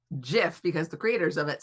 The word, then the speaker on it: GIF: It's pronounced GIF because the creators of it said it's GIF.